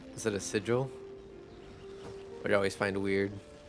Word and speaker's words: sigil: Or I think if you pronounce like Matt Mercer, I think he says sigle. Is that a sigil?